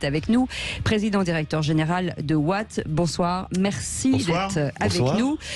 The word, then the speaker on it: WAAT: Patrick Kick est avec nous, président-directeur général de Watt.